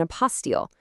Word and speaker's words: apostille: And that passport is called an apostile. You say it like a post steel. It's actually a French word for certification, which is pretty much exactly what it is.